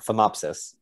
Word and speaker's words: Phomopsis: I'm not going to be able to say this word right, so I'll spell it, but our Norway spruce has P-H-O-M-O-P. Oh, phomopsis.